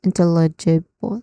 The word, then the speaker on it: intelligible: It would start with in which has a short e vowel sound and tell. Uh you're trying to say tell like the word tell t l t e l l. And then e which has a short e sound. And then jewel which you know a soft t sound followed by uh and then the stress syllable here is bill like the word bell.